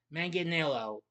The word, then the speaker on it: Manganiello: Manganelo, that's how you pronounce it.